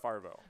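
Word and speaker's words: Favreau: it's Farvo.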